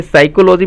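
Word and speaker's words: psychology: था साइकोलॉजी है देखिए साइकोलॉजी में हो जाता है कि पी है साइलेंट होता है और इसका इसके लिए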